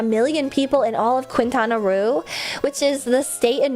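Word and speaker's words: Quintana Roo: That's such a funny pronunciation. Wait, what do you mean? Cohen Quintanaroo. That's how you say it. Quintanaroo.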